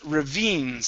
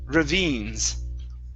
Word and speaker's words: ravines: good good okay uh this word here is pronounced Ravines so this is a long e sound and the stress is on the end Ravines Ravines okay very nice